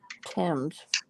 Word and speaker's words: Thames: Pronounce it Thames.